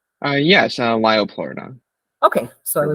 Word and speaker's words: Liopleurodon: and The Hunt for the, how do you pronounce this, Liopleurodon? Yes, Liopleurodon.